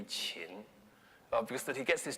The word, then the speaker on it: Qin: would have pronounced it it should probably be chin because that he gets